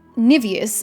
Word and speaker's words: niveous: gold burned brilliantly no more and okay uh niveous apparently is the correct pronunciation it is uh it it means like